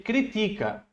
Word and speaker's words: critica: Ti crítica não desculpa Ele critica né é o Ti a sílaba forte aí ele critica quando